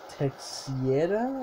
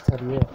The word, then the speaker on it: Teixeira: Alex Teixeira, I believe that's how you pronounce the name.